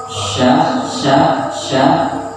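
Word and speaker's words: ش: Sya, jadi sya-nya itu sin besar. Tapi pengucapan sya ini jangan ngomong karena sya, ada yang dimonyokan itu masih keliru. Pengucapannya biasa aja, tapi ada aliran nafas yang bagus.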